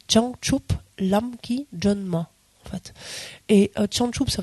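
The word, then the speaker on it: བྱང་ཆུབ་ལམ་གྱི་སྒྲོན་མ: avez en tibétain alors vous allez peut-être pas tout à fait pourir le prononcer parce que c'est une translitération un peu particulière mais on dit Chang chup lamki John ma en fait et changchou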